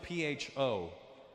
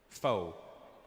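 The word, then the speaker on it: phở: It's spelled P-H-O. Pho. But it's not the way it's pronounced. And in America, people are fucking annoying because I'll be like, yeah, let's go get some pho. And they'll be like, you know, Russell, it's actually pronounced pho. And I'm like, oh, really? Yeah, so, you know, to show respect for the Vietnamese culture, you probably pronounce it pho.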